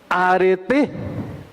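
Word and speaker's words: ἀρετή: Nomás que con acento agudo. Arete.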